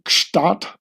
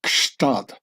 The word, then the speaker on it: Gstaad: So even when speaking German, you'll break your tongue over the pronouncing of Gstaad, which is not really German, and with no less than 3 consonants following each other up, a G, an S, and a T. Gst.